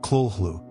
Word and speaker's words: Cthulhu: Cthulhu itself was intentionally crafted as a word beyond human speech without a truly correct pronunciation. Though Lovecraft once suggested it sounded something like Kulhlu.